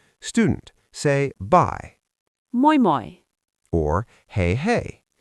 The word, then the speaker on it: hei hei: Teacher: Or Hei hei. Mnemonic: "Hey hey, I'm away!"